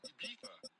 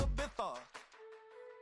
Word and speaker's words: Ibiza: I just went to Spain, that's a Ibiza. Ibiza. Yeah, it's pronounced Ibiza, actually. Yeah.